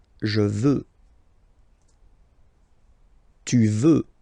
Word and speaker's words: veux: Vouloir, first person, je veux. Final X not pronounced. Je veux.